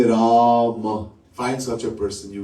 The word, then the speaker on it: Rama: Rama, 2 syllables.